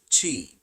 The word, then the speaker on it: Qi: The third is Qi, pronounced Qi.